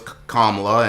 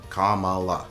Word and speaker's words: Kamala: all there and was Kamla and everything and Kamala to make sure I say her name right. Kamala. There we go.